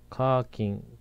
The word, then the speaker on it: 火金: B 課金しカーキン正解は C のカーキンとなりますカーキン火曜日と金曜日のことです課金というと課金と勘違いされる可能性がありますスマホゲームで課金し